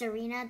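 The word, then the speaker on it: Tsareena: And this one, Zarina. Is that how you pronounce it? Yes, even though there's a T, it's pronounced Zarina, the T sound.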